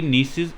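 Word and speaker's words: gneiss: पर districts of family नीस and granite A granite रोक सकती हैं मेनली यहां पर कौन सी नौकरी मिलती है ग्रेनाइट और नीतू जी साइलेंट है इसको पड़ते हैं नीस ठीक है और निशान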